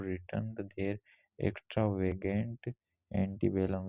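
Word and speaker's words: antebellum: बनने वाले शब्द वर्ड्स एंटी बेलम इसका प्रोनाउंस एंटी बलम एंटी बलम एसिस्टिंग बिफोर वार जो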